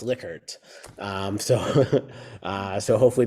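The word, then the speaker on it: Likert: are liquer items so a lot of people pronounce it lyer they're actually pronounced liquer um so uh so hopefully now going forward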